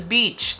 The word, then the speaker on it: beach: hard at all hard this next one is beach not to be confused with the female dog which is a completely different sound so when it comes to beach it's a very tight sound it's uh people call